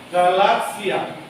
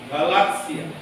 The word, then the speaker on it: Galatia: Seperti yang sekarang kadang-kadang saya lihat lektor itu masih baca misalnya Galatia. Padahal itu mestinya Galatia. T-nya itu malah nggak terasa. Galatia.